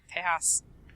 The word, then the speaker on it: Tejas: pronounced in Spanish. Yeah. Tejas. Not Texas.